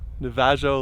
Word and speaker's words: Navajo: the vag neville loop navajo loop noveo loop noveo right that's your final answer the veyo yeah j silent it's pronounced navajo navajo oh how about